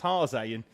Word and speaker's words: Haase: there's Ashley Haase, but his name is spelled the same as Haas, like the chassis, which is Italian. Yeah. But he's of Jamaican descent, so it's pronounced Haase.